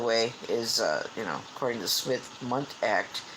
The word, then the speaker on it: Smith-Mundt: Smith-Mundt. Two different last names. Smith as in, just Smith, and Mundt, I think, is spelled M-U-N-D-T.